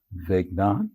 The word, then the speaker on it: Vignaud: Vignaud, you pronounce that right. It's a French last name, by the way.